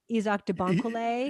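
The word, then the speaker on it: Isaach De Bankolé: um a private eye played by is it izak debonko yeah that's how you say it um and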